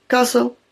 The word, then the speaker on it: castle: The middle T in castle and hatch are silent. Castle, hatch.